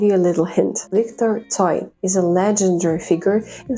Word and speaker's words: Tsoi: The son toy, as we pronounce it in Russian, is literally the adapted version of the Korean surname Choi.